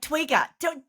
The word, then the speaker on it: Twiga: And Twigger, and have I said it right, firstly? And where has that come from? What is it? Yeah, so Twiga, yes, you have said it correctly.